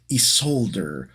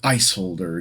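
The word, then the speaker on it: Isolder: This is Prince Isolde, or Isolde, depending on how you decide to pronounce it. I'm going to pronounce it Isolde.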